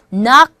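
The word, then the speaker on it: knock: 것 같아요 나 여기선 악이라는 것은 이렇게 일어 시작하는데 k 는 묵음 잊어선 나 아 나 썸띵 악수하게 되면요 나 예를 들어 서 이런거죠 특히 의 배 관련되서 이야기할 때 낙 썸띵 어 중단하다 중간에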